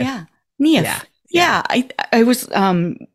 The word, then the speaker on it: Niamh: that a lot yeah think of your knee and say if KN if yeah KN if yeah I I was